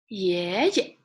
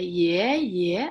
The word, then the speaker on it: 爷爷: 爷爷, right? 爷爷. You didn't say, if it's all second tone, you say 爷爷. It will be longer. The sound is longer. But if it's neutral tone, 爷爷, 爷爷.